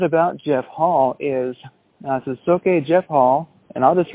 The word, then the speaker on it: Soke: So, Jeff Hall, or actually it should be, how do you pronounce that? Soke, Jeff Hall? Soke.